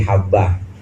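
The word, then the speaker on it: حبة: Harusnya itu bukan hayah tapi habbah gara-gara titiknya ee kelebihan.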